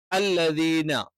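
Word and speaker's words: الَّذِينَ: രീതിയിലാണ് ഉണ്ടാവുക അല്ലദീന അല്ലദീന എന്ന് പറയുമ്പോൾ സാ എന്നുള്ള ഉച്ചാരണം ശ്രദ്ധിക്കണം അത് സാ എന്നൊക്കെ ഉച്ചരിക്കുന്ന ആളുകൾ അല്ലദീന നാവിൻറെ അറ്റം മേലെ മുൻപല്ലിന്റെ അടിഭാഗത്ത് ടച്ച് ചെയ്യുന്നുണ്ടോ അല്ലെങ്കിൽ അവിടെ തൊടുന്നുണ്ടോ എന്ന് നോക്കിയാൽ മതി അല്ലീനഹും അല്ല ഹും എന്ന്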